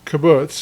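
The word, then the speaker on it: קבוץ: Uh, but it turns into a kabutz, which we haven't seen yet. And this isn't like ki bbutz, like a a spot of land, a hotel or a farm or something like that in Israel.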